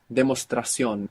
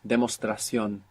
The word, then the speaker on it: demostración: What is a demostración? Demostración. Demonstration. Demonstration. Do you notice something different though? There's some change here. Demostración. There's no N.